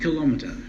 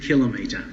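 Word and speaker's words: kilometre: and that is that she pronounce us kilometer correctly it is not kilometer it is kilometer and that's what she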